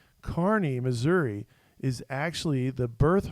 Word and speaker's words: Kearney: a town called kearney now it looks like it's spelled kearney it's spelled k-e-a-r-n-e-y carney missouri is actually the